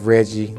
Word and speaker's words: Reggie: I'm Reggie, also known as Chef Reggie, that rhymes with veggie.